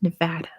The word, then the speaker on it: Nevada: world but in the U.S state is pronounced Nevada is the correct way to say it in American English yeah it's a wild